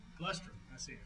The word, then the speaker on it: Glustrom: Glustrom. Glustrom. I see it. Rhymes with bus.